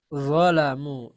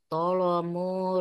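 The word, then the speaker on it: ظلموا: Fama robihat tijaratuhum alal lazina tolamu rijsa Zolamu. Ini Zolamu. zolamu. Nggak kelihatan Ustaz ininya. Nah, kelihatan? Iya ya. Alal ini. Sudah Bu? Ya udah. Alal lazina tolamu Bukan to, rijsa. bukan to, tapi zo.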